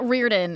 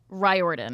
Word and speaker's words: Riordan: saying his name wrong it's not Riordan it's it's not rorden it's Ry Orin R thank you I